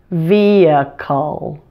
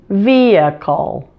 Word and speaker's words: vehicle: okay now watch my mouth carefully as I pronounce the word vehicle vehicle vehicle now you try vehicle vehicle now the dark L is a tricky